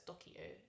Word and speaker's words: Doceo: meant that um and docio actually is pronounced as dokio in latin and it means i teach so that's why we